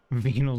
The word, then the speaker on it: venal: his twin brother Edgar I don't like you pronouncing it venol it makes it sound like a like like a scientific term for a sex organ I don't know that's too close to vaginal venal disease oh no yes